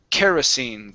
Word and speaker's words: kerosene: Kerosene. Kerosene. Okay. Good. Yeah. You added a T sound at the end, saying kerosene.